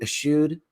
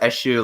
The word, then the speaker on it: eschewed: that I have always how do you pronounce that word a skewed eschewed yeah I'm just I always thought it was a shoe like cashew yeah okay so I've